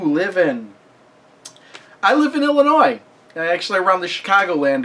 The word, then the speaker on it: Illinois: in uh it's not Illinois you don't pronounce that S at the end of it it's just Illinois but it kind of